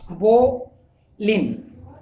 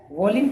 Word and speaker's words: bowline: Next, बोलाइन note, pronounced बोलिन, वोलिन के रूप में इसको उच्चारित किया जाता है।